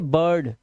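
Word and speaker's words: bird: जैसे यहां पर देखो आई के बाद यहां पे देखो आई के बाद आर है तो आप इसे क्या पढ़ेंगे? बर्ड। इसे पढ़ेंगे बर्ड।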